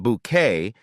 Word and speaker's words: Bucket: A lady who always wanted to climb the social ladder pronounced her name bouquet and was determined to keep her appearance perfect in all situations.